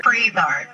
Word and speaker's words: Frisard: I'm interested in knowing a little bit more about how you pronounce the company name, Frisard? Frisard, yeah.